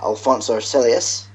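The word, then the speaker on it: Alonso Celis: the interesting thing is then test drive over Alonso celus that's how you pronounce it did 133 laps yeah cuz they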